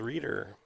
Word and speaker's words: Reader: Pronunciation is Reader.